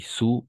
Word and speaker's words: sous: Sur, sobre y sous, debajo. Y ahí está la pronunciación igual. Sur con la I más o menos. Así, una cosa así. Y este ya sería la U. Sur et sous.